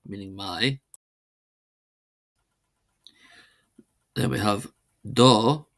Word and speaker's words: do: Then we have do meaning your not do not do short o meaning your and then we have ah meaning his and ah meaning her.